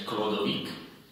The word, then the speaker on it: Chlodovik: Totiž franský kráľ Chlodovik, Chlodovik, máte napísané, ale mali sa čítať Chlodovik, a jeho manželka Klotilda, Chlotilda, nechcem vyslovať, keď bojuje proti Visigotom v Južnej Gálii, zasvetí svoj boj svätému Martinovi.